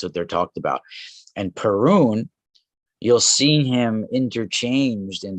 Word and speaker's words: Perun: of align him with this the thunder god perune perun is the one of the ancient gods of